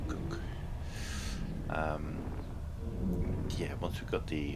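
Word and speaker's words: Kuk: People pronounce it cook. K-U-K, cook.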